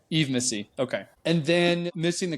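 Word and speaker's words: Yves Missi: Is it Ivis Missy? I don't know how to pronounce it. Eve. Just Eve. Okay. Eve Missy.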